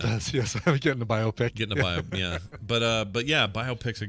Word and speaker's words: biopic: heard the right pronunciation, I always thought, when you had a movie that was a biography about somebody famous, that it was a biopic. Like, I'd pronounce it like myopic, right? Like, you pronounce it like you see other words getting pronounced instead of biopic, which makes a lot more sense, biopic, because it's it's